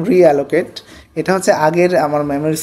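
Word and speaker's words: realloc: আমি এক আচ্ছা রিঅ্যালোকেট উচ্চারণটা হচ্ছে এরকম রিঅ্যালোকেট এটা হচ্ছে আগের আমার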